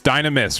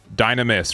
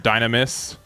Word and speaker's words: Dynamis: It's Dynamus, right? Dynamis. Right. That is the correct for it. Dynamis.